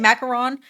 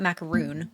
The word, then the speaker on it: macaron: How do you say it? Macaron. Not macaroon. Macaron.